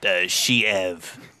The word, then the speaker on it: Sheev: Yes, this is Cherry's in It's also, pardon to interrupt, but it's pronounced Sheev.